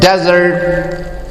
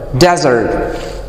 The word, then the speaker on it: desert: these words the word desert has a vowel sound of in the stresses on the first syllable desert right the stress is on the first syllable and this vowel sound